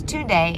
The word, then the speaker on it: Tunde: And I might have said her name wrong in the last clip. But it's Tunde, and I knew I would love this, and I did.